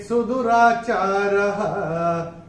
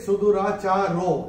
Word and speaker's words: सुदुराचारः: आपकी किताब में अगर आप देखेंगे चेत सुदुराचारो ऐसे लिखा हुआ है। यहाँ पे एक नियम लागू होगा, पहले और तीसरे चरण की समाप्ति पर ओ का उच्चारण जो है विसर्ग होता है। तो ये हम अपनी किताब में नोट करके रख सकते हैं। ओ को ऐसे स्ट्राइक ऑफ करके यहाँ पे विसर्ग लगा के रख सकते हैं। अपि चेत सुदुराचारः, ये ऐसे करके आएगा।